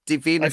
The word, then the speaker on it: Divina: And it's DI VI rather than DA if that makes sense because people always spell it wrong and then they go, "Oh, I couldn't find you." So it's d like divine rather than David.